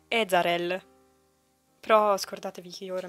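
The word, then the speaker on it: Ezarel: Che poi io ho scoperto, anzi una nel gruppo WhatsApp di Eldaria mi ha fatto notare che non è Ezreal come io l'ho sempre pronunciato, ma è Ezreal.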